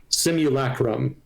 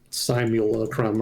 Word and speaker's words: simulacrum: It's pronounced simulacum, not simulacrum or whatever it was I was saying.